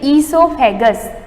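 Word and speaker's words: oesophagus: इसको प्रोनाउंस क्या ओ ई है, पर ओ साइलेंट रहेगा, इसको प्रोनाउंस करेंगे ईसोफेगस, इसको बोलते हैं फूड पाइप।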